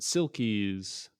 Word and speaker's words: selkies: not Scottish, but it's about selkies, or some pronounce it silkies.